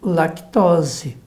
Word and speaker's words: lactose: Então, essa palavra se tornou proparoxítona, com esse acento que você colocou no lá. Então, tem que tirar esse acento para você pronunciá-la como lactose. Daí, produtos sem lactose.